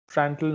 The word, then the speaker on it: Prandtl: Usually the pronunciation would be correct if you silent the D. Prandtl number.